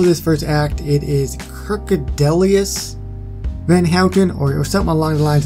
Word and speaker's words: Kirkedemious Van Houten: Kirkedemious Van Houten. That is how you pronounce the name.